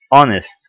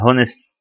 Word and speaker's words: honest: an honest man، honest ولا honest؟ honest ما منطقش ال h يبقى تعتبر متحرك.